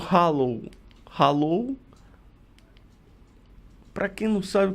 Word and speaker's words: Halo: Se pronuncia Halo de Aurélia veio para ficar, pelo menos em 2018.